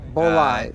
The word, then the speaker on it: Bolide: The Bolide. Bolide. That's how I pronounce it.